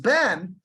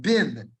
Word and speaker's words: bin: e sound finish now instead of being pronounced Ben it's pronounced bin with a hearing that